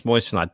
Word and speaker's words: moissanite: the two whiskeys I've had to try and pronounce that marson-knight moissanite moissanite okay apparently it's moissanite that's the one that's that's the thing cool